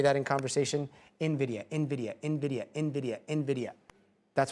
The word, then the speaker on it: Nvidia: No, that's not correct. Nvidia. The N is hard pronounced. Nvidia, not Nvidia.